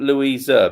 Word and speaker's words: Louisa: There once was a girl called Louisa, and I'm saying Louisa because it rhymes with people pleaser.